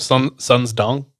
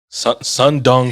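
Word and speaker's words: Sơn Đoòng: You guys never think of Sun's Dong? Literally, those two words together have never crossed my mind. Sun's Dong is not how you pronounce it, but it's how it looks.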